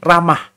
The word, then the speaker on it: Ramah: saudara tadi ada kata Rama Rama Itu adalah sebuah kota di di peta ini ramah ya teman kan kalau ee orangorang yang orang berbahasa Inggris itu hak itu kadang-kadang tidak diucapkan Ya ramah ya kota